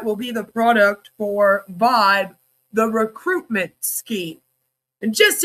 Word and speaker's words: VYB: You know, Vibe VB, but it's pronounced Vibe Vibbe was introduced as a new